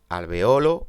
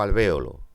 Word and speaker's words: alvéolo: decir periodo o periodo se puede decir alvéolo o alvéolo a un tri a